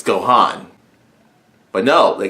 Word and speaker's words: Gohan: Gohan's name which was they called it go hand so I'm like it's go hon but no they call